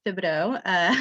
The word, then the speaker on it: Thibodeau: I'm your coworker, and you still said my last name wrong. I'm Thibodeau, the Director of Operations for the Washington Tourism